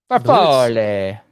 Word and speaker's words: farfalle: This is Italian sausage and zesty tomato sauce with farfalle pasta and Parmesan. These are the kind of long titles right there. Did you say farfalle pasta? How do you pronounce it? Farfalle. That's way better, but yeah, go with that.